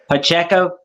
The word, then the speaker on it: Pacheco: Those 3 rushing touchdowns by Jalen Hurts and Pacheco, how do you say his name? The running back from Kansas City, Pacheco.